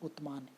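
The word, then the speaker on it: عثمان: And Arabic में इसको pronounce करते हैं उतमान, UTHMAN।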